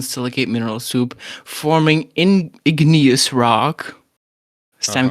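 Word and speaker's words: igneous: Ingenious rock. Yeah, it's called that. Ignous. It's pronounced ignous.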